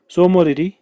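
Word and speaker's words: Tso Moriri: एक तारसर है, एक सोमोरेरी है, TSO से शुरू होता है ना, T साइलेंट है, सोमोरेरी, और उसके बाद सोकर, सोकर TSO एक्चुअली TSOKR, सोकर।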